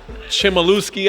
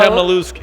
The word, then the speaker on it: Chmielewski: The Feeney Chimaluski, I say wrong. Oh. Chmielewski. Oh, boy. Chmielewski.